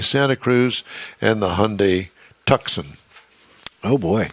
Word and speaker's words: Tucson: Cruz and the Hyundai tuxen oh boy I think they pronounced that Tucson but I like tuxen well it kind of